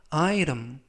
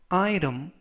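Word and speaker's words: item: 물건 이라는 뜻이 되겠구요 발음의 유의하실 점은 아이템이 아니라 아 이름 아 이름 이라고 발음 하시면 더 좋겠습니다 이 품목은 이스 내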